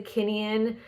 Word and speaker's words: Kineon: One is the Kinian, the Move Plus Pro LED and Laser. So Kinian is spelled Kineon.